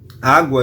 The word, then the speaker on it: água: A palavra água. Água, eu pronuncio U. Então, o GU não é dígrafo.